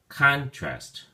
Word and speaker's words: contrast: or as a verb when you use it as a noun the emphasis or stress is on the first syllable calm so then we say contrast contrast if you use